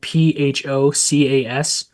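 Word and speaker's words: Phocus: under focus seeds, and focus is spelled pho cas, right? Seeds. So, yeah, it's it's a it's it's actually Greek. So, a lot of people uh think I'm saying focus, but it's it's focus.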